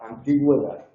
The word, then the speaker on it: antigüedad: Aquí la diéresis no marca un hiato, aquí la diéresis lo que nos indica es que tenemos que pronunciar esa vocal, pero la pronunciamos como una semiconsonante, no es tónica. La vocal tónica en esta palabra es la antigüedad.